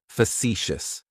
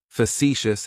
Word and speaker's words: facetious: Facetious has 3 syllables, and the stress is on that second syllable. It's like you're just saying the letter C for see. That first syllable has that schwa, that sound.